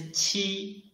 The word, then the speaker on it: qi: Ji, and this qi, when we read qi, its pronunciation is the same as ji, but it blocks the airflow in the mouth first, and then releases the block. Qi.